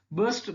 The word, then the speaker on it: burst: Burst, that is to come out violently. That is burst, to break and come out something violently. That is burst. Pronunciation is burst. Here also R is silent.